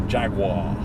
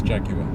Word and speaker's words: Jaguar: Jaguar sorry America for Jaguar Jaguar it's actually quite a cool button no that's not how you pronounce it guys it is jack you I know I'm British